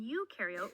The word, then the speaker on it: eukaryote: rhymes with no and you in eukaryote rhymes with do prokaryotic cells have no